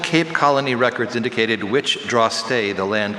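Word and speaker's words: drostdy: The old Cape Colony records indicated which draw-stay the land called the Parle was under. May I have the part of speech? Noun. Are there any alternate pronunciations? There's draw-stay and draw-stay.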